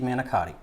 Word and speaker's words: manicotti: a beef and cheese manotti uh we say it right manotti okay manotti we've already um Cooked